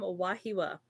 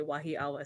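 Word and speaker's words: Wahiawā: um Sister Christina from wahiwa I have I'm so tempted to say wahi AWA sometimes that's the wrong pronunciation but you just want to say how it is um we have also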